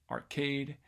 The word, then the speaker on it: arcade: And hopefully you can hear that there is stress on the second syllable of each one of these: Atlantic, atrocious, America, arcade, astronomy, and arthritic.